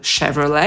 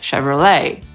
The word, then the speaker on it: Chevrolet: Niektórzy akcentują pierwszą sylabę i mówią Chevrolet /ˈʃevrəleɪ/, a niektórzy ostatnią i mówią /ʃevrəˈleɪ/.